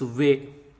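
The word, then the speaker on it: वे: V plus a equal to way, way, and way is pronounced like WE in west, west, way, west.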